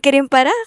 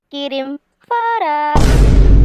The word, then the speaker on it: Kirim Fara: Hello po lolo just to ay Aling Kim para mali pagkabigkas mo sa pangalan ko. It's Aling Kirim Fara.